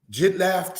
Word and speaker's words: Jidlaph: Next, brothers and sisters, from Jidlaph to Maacah. Jidlaph means melting away. Because, brothers and sisters, this letter here, the face or feet, makes a F or a P sound at the end of words.